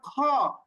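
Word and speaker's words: خا: হা একালিফ পরিমাণ টান এরপরে খ বর্ণ লিখতেও কিন্তু দুইটা বর্ণ লাগে না সুতরাং খ এইটা আমরা একালিফ পরিমাণ টানবো তাহলে এখানেও যদি আমরা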